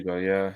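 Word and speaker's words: Essugo: How do you say it? Asugo. Asugo, is that you say? Asugo, yeah. Asugo.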